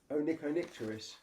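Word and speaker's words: Onychonycteris: Onyctonicturus. That's how you pronounce it.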